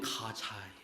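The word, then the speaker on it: Gaza: 번역할 때 가사라고 번역했는데 그 영어 발음으로 하면 가자요 지금 이스라엘 땅에서 전쟁이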